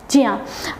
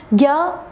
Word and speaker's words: ज्ञ: इया के योग से, तो इसका जो सही प्रोनाउंसिएशन होता है वह होता है ज्या, लेकिन हम इसे ज्ञा बोलते हैं।